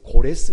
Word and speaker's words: 고레스: 사실입니다 성경은 그를 그냥 발음 하게 쉽게 성경에서 고레스 라고 발음을 합니다 그의 어머니가 있어요 만다 내라고 하는